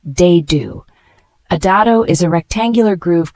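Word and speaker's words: dado: to join pieces together the word d spelled d a d o and it is a noun pronounced de do a is a rectangular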